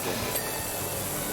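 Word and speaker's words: Remi: Yeah, but my real name in real life is Remy. Oh. Is Spelled cute.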